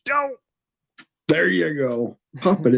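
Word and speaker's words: D'oh: But then we realized that's not how it's pronounced. And we were like, well, the main one would be the Simpsons anyways. So, you know, D-O-H, Doe.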